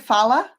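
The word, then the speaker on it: Phala: Fala.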